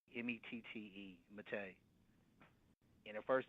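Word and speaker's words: Mette: Her last name is Matei, M-E-T-T-E, Matei. And her first name is spelled E-X-C-I.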